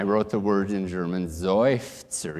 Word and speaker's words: Seufzer: And I wrote the word in German, Seufzer. Even the word in German, there's an accented syllable and a resolved syllable. Seufzer, not Seufzer. Hello, sir. No, it's Seufzer.